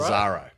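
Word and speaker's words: Lazzaro: Lazaro.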